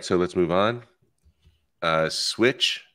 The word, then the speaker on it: Swytch: Swytch, that's how you pronounce it, right? Yep, switch.